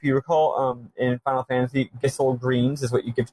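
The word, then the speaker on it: Gysahl: If you recall, in Final Fantasy, Gissel greens is what you give to chocobos. Not Geishel.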